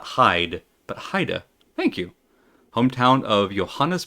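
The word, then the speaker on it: Heide: It is pronounced Haida. Haida. Okay. So not Hades and not Hyde, but Haida.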